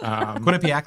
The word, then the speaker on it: Quinnipiac: Quinnipiac, like Economowoc. I know how to say it now.